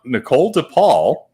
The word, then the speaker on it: Nichole DePaul: We have Nichole DePaul. And did I pronounce that right, Nichole?